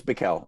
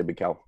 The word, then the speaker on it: Bikel: I think it's Bikel. Yeah. Yeah. People say Bikel. Yeah. Oi. And that, I mean, actually right this minute, I'm trying to learn some lyrics mm-hmm. for a Bikel song.